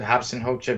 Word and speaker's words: Robson Rocha: is robson hocha or robson rocha but i pronounce it hobson holcer because he is brazilian and a lot of brazilians speak portuguese and there are to